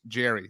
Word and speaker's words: Jere: to meet you Manny from Jer pronounced Jerry so it's actually written j-e-r-e so Manny from Jerry